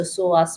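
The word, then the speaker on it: psoas: that just remember the soas muscle especially if you're going to go out and Google it it's called PS o a s so soas muscle the p is silent now this muscle um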